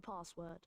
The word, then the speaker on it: password: We'll tell you the password. We'll tell you the password. Password. Pass that long a sound sound as in for example darkness or I don't know. Um other words with car, car, password.